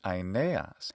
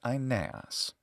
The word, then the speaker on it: Aeneas: In classical Attic pronunciation, his name is Aeneas, and in Latin, it's Aeneas. And modern Greek pronunciation of the ancient name is Aeneas.